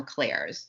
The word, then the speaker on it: clair: of info on the Claires so first of all Claire is the way that we're referring to it is spelled c-l-a-i-r and it is just French for the word clear right so we're just